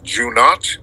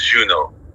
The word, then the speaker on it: Juno: not Jun note oh how am I pronouncing your name Jun not oh what's up J how's it going brother I'm good brother am I pronouncing your name right no it's Juno Juno okay so yeah yeah